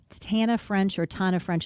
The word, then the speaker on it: Tana French: Tana French is how she pronounces it.